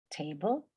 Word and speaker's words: table: Table. Okay. Nos acordamos que cuando la palabra acaba en LE, la pronunciación es ul.